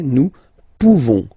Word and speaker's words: nous pouvons: Nous pouvons, okay? You don't pronounce the final S.